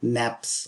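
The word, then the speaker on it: nappe: But really, they're called naps of a cone. Okay. That's spelled N-A-P-P-E.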